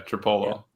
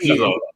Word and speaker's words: Trapilo: Yeah, Tripolo. How you say it? Trapilo. Sorry, I'm sorry. Trapilo. Ozzy Trapilo, my bad.